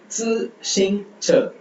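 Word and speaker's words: 自行车: so zi ஷிங் அப்புறம் ச ச CHE ச E வரும்போது நம்ம பார்த்திருக்கோம் அந்த மாதிரி ப்ரொனவுன்ஸ் பண்ணணும் சோ இது வந்து zi xing che zi xing che zi xing che zi xing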